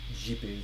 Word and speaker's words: Sergipe: Sergipe, because in Portuguese, ser means be, and Sergipe is how you pronounce it.